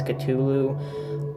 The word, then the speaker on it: Cthulhu: people pronounce it Cthulhu was actually supposed to pronounce Cthulhu um it's actually based off the RPG and